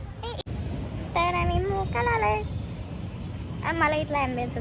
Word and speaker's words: Mocha: हे हॉटेलची स्पेलिंग आहे एम ओ सी एच ए आणि त्याचं प्रोनाउन्सिएशन मोका आहे.